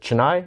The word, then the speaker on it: Chennai: Chennai, India? Yeah, Chennai, yes, India. Okay. Sorry, my Tamil is rusty. No, you pronounced it really well.